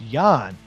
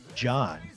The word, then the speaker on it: Jan: Um, Jan is pronounced Yan. Oh, I've been pronouncing it John.